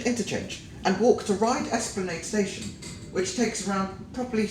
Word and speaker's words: Esplanade: However, some people seem to pronounce it as Esplanade, but I'm telling you it's Esplanade, Ryde Esplanade.